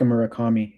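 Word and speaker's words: Murakami: Mutaka Marakami.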